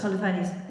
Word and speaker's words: Holofernes: And then this amazing story with how do you actually say his name? Holofernes? Holofernes. I did say it right.